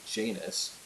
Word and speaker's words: Janus: pronounced mignon OU's but in English we say janus j and us of